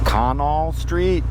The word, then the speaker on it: Canal Street: this is Canal Street they pronounce things differently here in New York so it's actually conal street so when you come here ask for conal Street just say hey do